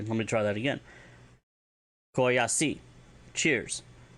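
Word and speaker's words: k'oyacyi: cheers than just Oya is going to be Koyashi. And that is spelled K, beten, O-Y-A-C-I. I'm sorry, let me try that again. Koyashi.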